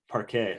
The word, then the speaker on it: Parque: We're here with Parque. Did I get that correct? Parque. Parquet. Oh, okay, so no, I didn't.